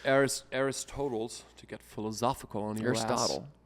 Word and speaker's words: Aristotle: it's in moderation it's well it's it's AR Aristotle to get philosophical on your Aristotle you say toal I I keep forgetting how to say it because aristois is what I is what I what I